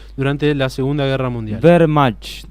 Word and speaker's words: Wehrmacht: Wehrmacht. Wehrmacht. La W en alemán suele ser una B larga. Wehrmacht, sí.